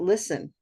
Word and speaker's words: listen: How about listen? P is silent. Yeah, so there's no T. Sometimes somebody might say listen, and that'll throw the listener off.